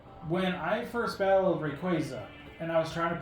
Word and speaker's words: Rayquaza: but I called it rayquazillia it could be worse I called it rayquazillia and there's no l in there I don't think there's